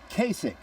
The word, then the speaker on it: Kasich: It's pronounced Kasich, and as they cleared out the New Hampshire headquarters for Republican John Kasich, South Carolina we go.